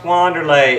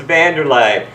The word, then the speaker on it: Wanderlei: know what you're saying right now it's not pronounced wlay it's vanderlay well because of some goat